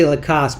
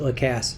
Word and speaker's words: Lacasse: I want to say Lacasse, but he pronounces it Lacasse.